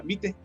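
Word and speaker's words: vitae: fonética no es vital se pronuncia como si fuera una e nada más se pronuncia vite Así que la forma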